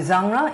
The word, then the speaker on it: genre: 이걸 genre 이렇게 발음합니다. 프랑스 사람처럼 genre.